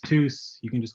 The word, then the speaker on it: Theus: Last name is pronounced Theus.